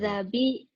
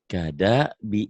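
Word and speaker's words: كَذَّبَ: Kazabi. Bukan. Kazabi. Bukan. Itu dalnya kan keras. Kadabi gitu doang.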